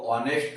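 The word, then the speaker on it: honest: क्योंकि मैंने अभी आपको बताया कि एच जो है वो साइलेंट हो जाएगा, ओके, और इसको ऑनेस्ट बोलेंगे, तो ये हिंदी का प्रोनाउंसिएशन होगा ऑनेस्ट, ओके, तो वो हिंदी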